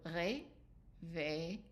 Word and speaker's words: réveille: And so remember that the RE with an accent is ré, and then the V with EI after is an A also. So réveille. So the double L here pronounced kind of like Y sound. Réveille, réveille, réveille.